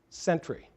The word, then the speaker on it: Century: And we pronounce it like somebody is guarding a fort, Century.